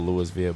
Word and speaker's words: Louisville: yeah, it's spelled Louisville, but Louisville. I just pronounced all the letters.